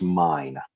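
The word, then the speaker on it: Myne: to the shield hero her name is pronounced mine i know that's weird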